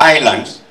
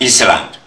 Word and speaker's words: island: When we talk of islands, one teacher taught me in class three and they used to pronounce it as land but it is island.